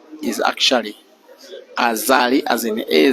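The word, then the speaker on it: Azali: years in succession his full name is actually aali as in a z a l i his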